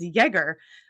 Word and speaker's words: Jagger: I said her name and she said, actually, it's Jaeger, which made me laugh. And I did double check the pronunciation this morning.